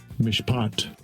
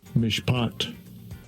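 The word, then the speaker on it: מִשְׁפָּט: Here's the pronunciation. I'm going to click this so we can hear it. Strong's H 4941 mishpat mishpat Okay.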